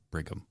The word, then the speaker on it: Brigham: Bingham Young. Yeah, Yeah. you said BYU before, right? Yeah. Brigham.